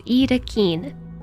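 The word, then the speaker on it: Yttakin: Pronounced roughly as Itakin.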